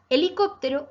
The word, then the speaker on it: helicóptero: Pues bien, helicóptero no tiene color porque no es ni aguda ni grave. Es esdrújula porque se acentúa en la antepenúltima sílaba y estas palabras, te cuento, siempre llevan tilde.